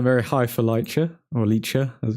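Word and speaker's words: Licha: A lot of people going very high for Lycha, or Lycha as it's pronounced.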